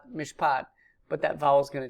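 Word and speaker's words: מִשְׁפָּט: That long A, kametz, is going to, in a word pair, is going to reduce to a short A, patak. So it sounds the same, mishpat, mishpat, but that vowel is going to change.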